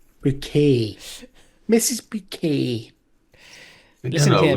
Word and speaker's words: Bucket: Bucket to your house next. What? It's pronounced Bucket. Bouquet.